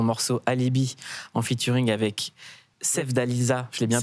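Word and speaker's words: Sevdaliza: Ton morceau Alibi en featuring avec Sev Dalisa. Je l'ai bien prononcé.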